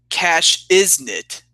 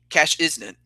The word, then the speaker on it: Cashiznit: But it's pronounced Cash Isn't. That's CASHIZNIT. Cash Isn't.